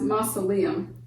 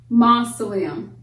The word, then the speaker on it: mausoleum: River in Agra India that's pronounced mausoleum moths away and the emphasis is placed on long mausoleum the Taj Mahal is